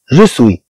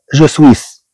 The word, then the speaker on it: je suis: Je suis. لا تقرأ je suis بل تقرأ je suis. هاد اس لا تنطق.